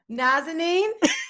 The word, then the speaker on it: Nazanin: how to say her name what is it nazineen and nazini i didn't know nobody that knew